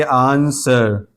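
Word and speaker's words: answer: आंसर आंसर यहां देखिए एस के बाद डब्ल्यू है तो अब ये डब्ल्यू खामोश है। यानी इसको तलफुज़ में नहीं लाएंगे। इसको पढ़ेंगे आंसर।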